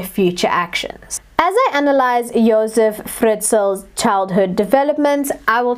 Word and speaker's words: Josef: start off by saying i pronounce his name josef because that is how i have heard the austrian documentaries and news station pieces pronounce his name so i figured that was the most correct way um as he is austrian and so i've stuck with that pronunciation but other people call